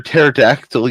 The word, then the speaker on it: pterodactyl: why can't you hear pterodactyl using the restroom the p is silent now see that's classic